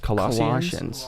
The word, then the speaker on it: Colossians: it um yeah it's it's coloss is it's pronounced Colossians Colossians thank you Colossians 3 2.